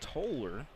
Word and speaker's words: Tyler: Tyler trying to, Aaron Tyler, 5'5" sophomore. Shooting 2. And it's actually pronounced Toller.